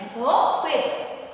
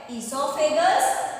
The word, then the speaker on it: esophagus: उसे बोला जाता है ईसोफेगस। ओ यहाँ पे साइलेंट होता है, ईसोफेगस, फूड पाइप, ग्रसिका, या इसको हम भोजन नली भी बोलते हैं।